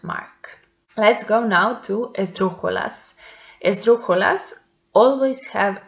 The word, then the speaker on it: esdrújula: Let's go now to esdrújulas. Esdrújulas always have accent mark. So let's see the examples. Médico. The antepenultimate syllable is the stressed one, and by that is esdrújula, so it has accent mark.